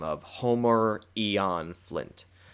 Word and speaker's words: Eon: Aeon Flint not Homer Ian Flint that's Homer Aeon Flint with with eeo and not ia and just thought I'd clarify I'm not pronouncing it wrong it's his name is literally Eon Flint now obviously and I'm